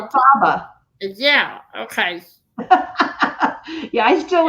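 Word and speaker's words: Elphaba: or not, out the I need to say it right. Carrie pronounces it for me. Elta does what I say, and she said, Alfaba.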